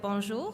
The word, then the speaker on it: Bonjour: the rule is that if there is a vowel before an N or an M you make the vowel nasal without pronouncing the N